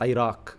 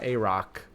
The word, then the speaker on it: Iraq: It's pronounced Iraq. Aay Iraq. But I'm like Americanizing for some reason and I keep correcting myself. Iraq. Not Arach.